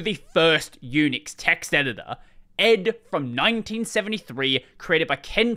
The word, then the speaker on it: ed: first Unix text editor Ed from 1973 created by Ken Thompson for the very first Unix system now technically Ed is pronounced as the individual letters E.D but for reasons that